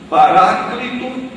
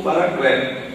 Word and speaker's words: Paráclito: A pronúncia é indiferente. Você pode citar Paráclito ou Paracleto.